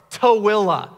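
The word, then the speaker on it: Tooele: the first time because you think it's tool or Tully nope towila toewill is five syllables that aren't even in that word there are letters that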